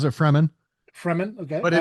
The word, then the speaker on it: Fremen: He joins the desert people, the Fremen. Or Fremen? Uh most people pronounce it Fremen. Fremen, okay. But it but it is I think it is literally the free men.